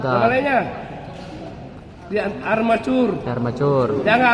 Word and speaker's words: armature: Nama lainnya armatur. lainnya di armacur. Armacur. Jangan armature ya. Armatur armacure tulisannya tapi bacanya armacur.